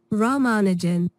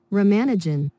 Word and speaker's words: Ramanujan: is actually pretty accurate to the name Rammanagen. Rammanagen. Rammanagen. But you also get an American pronunciation. And I think this is absolutely horrible. Romanagen.